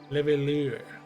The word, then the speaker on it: Leveilleur: Leveilleur. Like a lure, like a fishing lure. Leveilleur.